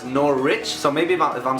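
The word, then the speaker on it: Norwich: be saying it different I know I used to say nor witch and I know now it's nor Rich so maybe if I'm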